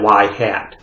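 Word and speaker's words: ŷ: Okay, we pronounce that y hat.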